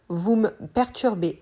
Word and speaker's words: vous me perturbez: me perturbez là aussi la prononciation est différente de l'écrit le me devient m on supprime le E vous me perturbez vous me perturbez vous